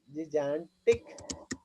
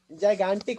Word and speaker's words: gigantic: इसका बेटा एक्चुअल में इसका प्रोनाउंसिएशन क्या होगा? मैंने उस दिन बताया था, जिजांटिक, एक तरीके से विशाल. Yes. इसको जाइगांटिक होगा इसका. ठीक है, जाइगांटिक.